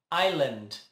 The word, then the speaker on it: island: se errar a pronúncia pronunciando o s mas na verdade ele não é pronunciado ao invés de island fica hayland hayland hayland hayland hayland